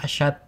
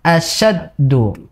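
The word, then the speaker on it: أشد: Jadi di situ yang salah dari huruf shin-nya. Harusnya asyaddu. Tadi belum baca dengan asad.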